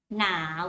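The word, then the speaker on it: หนาว: Now, with rising tone. You pronounce like the word now in English, but put the tone going up like this.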